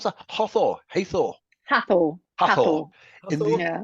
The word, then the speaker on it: Hathor: How do you pronounce that? Hathor.